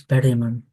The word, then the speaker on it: Bergman: He was a a friend of the Finnish composer Eric Bergman who I think we should pronounce Berman.